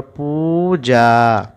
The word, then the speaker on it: পূজা: যখন কোনো অক্ষরে দুর্গুকার থাকবে তাহলে আমরা উচ্চারণটা একটু লম্বা করে দেব।